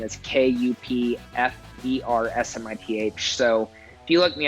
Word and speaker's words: Kupfersmith: My last name is spelled weird, but then my last name is Kupfersmith.